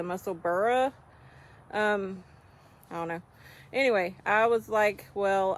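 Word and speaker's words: Musselburgh: for a hat well everybody used to call it the musselberg but then everybody found out that's how they or that's not how you're supposed to pronounce it that's really the muscle burrow um I don't know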